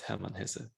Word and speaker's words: Hermann Hesse: hesse from hermann hesse it's a pronunciation the german is herman has a but uh i like to tell i like to call him herman hessie as well if a book is